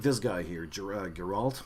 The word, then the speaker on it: Geralt: this guy here girag Geralt I was gonna need your all but Geralt Geralt yeah that's the name that's how you pronounce it he's kind of good